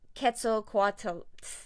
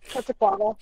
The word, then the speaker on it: Quetzalcoatl: Oh, it's like me trying to pronounce Quetzalcoatl. Fuck. Quetzalcoatl. Gastroesophageal. No, you need the at the end. The what? The T and the L.